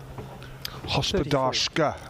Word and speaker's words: Hospodarska: Hospodarska, I reckon, is the correct pronunciation.